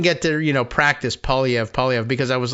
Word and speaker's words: Poilievre: no one says it that way here so pev is fine I I'm I'm easy with first